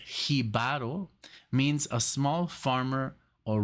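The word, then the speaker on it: Jíbaro: 1976 it says here the word jib uh uh pronounced hiar means a small farmer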